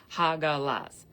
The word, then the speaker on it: Hagalaz: So, hagalaz is literally pronounced ha like laughing. Haha. Ha.